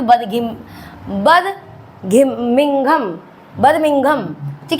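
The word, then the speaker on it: Birmingham: बात करें तो बिम बर्मिंघम बर्मिंघम ठीक है थोड़ा सा प्रोनाउंस करने में प्रॉब्लम है बर्मिंघम ठीक है अभी यह क्लियर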